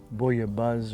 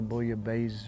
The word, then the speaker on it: bouillabaisse: in in the french if there's two s's it's not the z sound it's the hard s sound so you might hear some people say boy a buzz or bully a base or i think proper